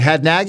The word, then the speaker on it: Hadnagy: Chris, is it Hadnagy? Is that how you pronounce the last name? That was perfect.